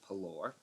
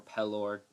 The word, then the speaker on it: Pelor: guess you could worship pelor or pellor depending on how you like to pronounce it uh and that that's